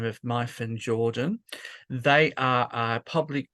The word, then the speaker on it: Myfan: It's just to let you know, it's pronounced Myfan.